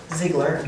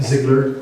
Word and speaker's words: Ziegler: Appointing planning commission members, Bonnie Allen and Ziegler. Am I pronouncing that right? Ziegler. Ziegler.